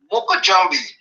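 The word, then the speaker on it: mokojumbie: you know in growing up in the Caribbean M Jambi it's spelled m o k o j u m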